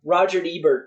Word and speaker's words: Roger Ebert: you know fan base it's not you know Roger Ebert was not goth so he's not going to